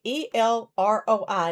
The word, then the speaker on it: El Roi: And then remember the word is El Roi, E L R O I and it is pronounced El Roi, it sounds that way. But it's a Hebrew word that means the the who sees.